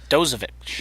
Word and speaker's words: Dozovic: Dozovic.